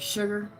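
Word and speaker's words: Seger: You know, some people say his name like like almost like Sugar, but not Seager.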